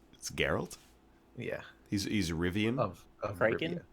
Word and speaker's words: Geralt: him girl there's no what yes Ari I pronounce it completely red it's Geralt yeah he's iridium of Franken I don't understand